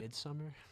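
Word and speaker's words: Midsommar: Midsomar. Yeah, that Midsummer. Mid Isn't it pronounced differently though? Midsummer. Am I wrong? It's midsummer.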